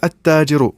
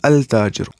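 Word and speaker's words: التاجر: If we will say at-tajiru, which means the merchant, we will not say al-tajiru, at-tajiru, because ta is huruf shamsi and lam will not be pronounced before it.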